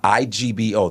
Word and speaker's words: Igbo: Ebo tribe. Igbo. The G is silent.